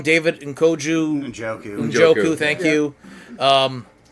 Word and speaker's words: Njoku: I get his name wrong, David Njoku. Njoku.